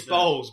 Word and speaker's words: Bowles: I thought it was, and it's Bowles, B-O-W-L-E-S, much like Camilla Parker Bowles, but we're not related because that could be just as bad as pronouncing it in Bowles.